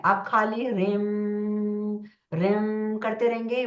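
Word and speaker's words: ह्रीं: बड़ी ई की मात्रा लेकिन जब हम इसको प्रोनाउंस करते हैं जब हम इसको बोलते हैं तो दिस वर्ड बिकम रम ठीक है तो वो जो र है आधा रा हम उसको प्रोनाउंस करते तो यू हैव टू से रिम तो खाली रिम की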